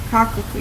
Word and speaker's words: Koekelkoren: Cocklecorin is spelled Koekelkoren. Cocklecorin. Yeah, whatever.